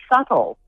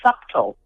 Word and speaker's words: subtle: It's like subtle. Some people want to say subtle. The B is silent.